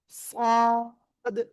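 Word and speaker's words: ص: ওকে, খেয়াল করবেন, এই যে অক্ষরটা, এই অক্ষর দেখেন, জিহ্বার আগা সামনে নিচে দুই দাঁতের পেটও আগার সাথে লাগাতে হবে, লাগে একটু মোটা আওয়াজে উচ্চারণ করতে হবে।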